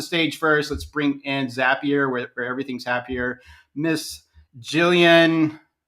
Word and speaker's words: Zapier: company name but yeah zapier makes you happier best way to remember it awesome there you go